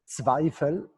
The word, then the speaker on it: Zweifel: I just want to say that my name is pronounced ZWEIFEL.